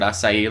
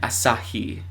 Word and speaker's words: Asahi: the accents and stuff that's what the word asai looks like on the Starbucks menu and that's how you're supposed to say is asai and this is spelled a AI news it's a japanese-based news outlet and Asahi Asahi but I want to say asai like